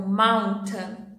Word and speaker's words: mountain: Então a gente tem a pausa do T e depois o som vai sair nasal, pelo nariz.